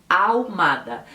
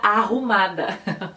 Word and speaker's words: Ahumada: Se escreve A-H-U-Mada. Ahumada. E eu imediatamente olhava para aquela marca, para aquela farmácia e lia Arrumada, porque eu colocava o som de R no H, mas é simplesmente Ahumada.